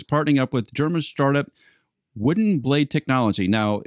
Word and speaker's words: Voodin: up with German startup Voodin Blade Technology. Now, it's spelled V-O-O-D-I-N, so if you happen to Google that, make sure you spell it correctly.